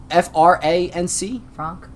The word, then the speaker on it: Franc: Cabernet France or Frank Frank oh f-a-f-r-a-n-c Frank it's like France without the e yeah right so let's